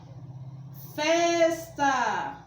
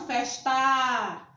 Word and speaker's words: festa: é produzido preto e é festa festa e não festar entenderam diferenças baixo saber